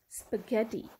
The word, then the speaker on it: spaghetti: word is spaghetti spaghetti now gh is in the middle of the word as you can see it is in the middle of the word what sound can you hear again yes spaghetti you can hear the sound of hard g so sometimes when gh is in the middle of the word it is pronounced as hard g right moving on to